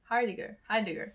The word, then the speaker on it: Heidegger: There's this really cool quote by Martin Heidegger. Heidegger. That's how you say it.